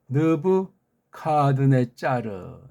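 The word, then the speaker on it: נְבוּכַדְנֶאצַּר: 느브 카드네짜르. 예. 느브 카드네짜르. 이걸 느브 갓네살이라고 일본 소리로 했어요. 1번 소리 느브 카드네 짜르예요.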